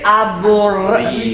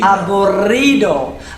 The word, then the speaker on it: aburrido: There are very few double letters in the Spanish language, but when they Sorry. When they are there, we want to hear them. So, it's aburrido aburrido aburrido.